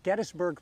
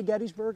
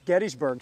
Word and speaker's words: Gettysburg: always don't like that chris pronounces gettysburg properly there are people like me that like to say gettysburg i likes the way it sounds but the founder's name was james gettys it's gettysburg so don't call chris